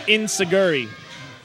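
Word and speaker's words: Enzuigiri: And there you go with the Enzo Giri. Or as Americans pronounce it, Insaguri.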